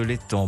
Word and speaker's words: l'Étang: Et j'ai le plaisir de recevoir François Bujon de l'Étang. Bonjour. Bonjour. L'Étang ou l'Estan, pardonnez-moi? Non, on ne prononce pas le S.